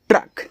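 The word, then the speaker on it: truck: तो इसको पढ़ते हैं ट्रक। क्या पढ़ेंगे? ट्रक पढ़ेंगे। याद रखना सी और के अगर साथ में रहते हैं तो उनको केवल का ही पढ़ा जाता है।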